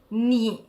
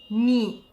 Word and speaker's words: 你: Ni significa tu, è del terzo tono. Ni.